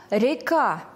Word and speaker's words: река: Первое слово – река. Река. Ударение падает на второй слог в безударном положении буква Е.